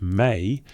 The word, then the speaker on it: me: The term Mi, pronounced May, appears throughout Sumerian literature as a fundamental concept.